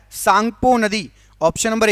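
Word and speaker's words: Tsangpo: इसको जाना जाता है सांगपो नदी के नाम से ता साइलेंट रहता है सांगपो नदी ऑप्शन नंबर ए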